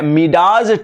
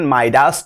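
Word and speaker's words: Midas: मिडाज touch का मतलब क्या होता है, प्रोनाउंसिएशन माइडास टच होता है।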